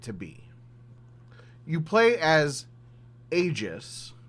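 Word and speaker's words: Aegis: be you play as AIS pronounced AIS even though I thought you pronounced the AE like e but maybe that's a French pronunciation AIS is Marie anet's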